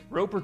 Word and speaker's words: Roper: Or are you trying to do like a Stephen Colbert thing where the T is silent? Roper. Because there is no T at the end of his name. It's just R-O-P-E-R.